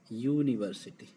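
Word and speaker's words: university: जो यू है यहाँ पर, वो इसका उच्चारण हो रहा है यू। जो या क्या है, व्यंजन साउंड है, यानी इसको व्यंजन बोलते हैं, या हिंदी की वर्णमाला में व्यंजन कहलाता है।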